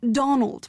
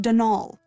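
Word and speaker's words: Dónal: the caretaker denal Delaney not Donald mind you there's no D at the end so it's pronounced denol that's the way you're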